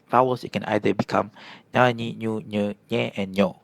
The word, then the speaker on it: nyanyi: Right so in English the closest "ny" sound is like when you say onion. On-nion. And also when you say lasagna. La-sa-gne. The ny is in there.